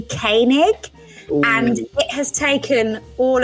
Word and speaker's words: Koenig: first episode on cereal I pronounce Sarah the presenter of that name massively famous as Sarah Cohen I think I said and it's actually Koenig and it has taken